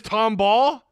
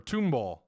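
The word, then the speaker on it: Tomball: legit Tom Ball Tom it is Tom ball that's how they pronounce it Tom Ball thought it was t t like the Tom tomall or tomb ball tomb ball Tom Ball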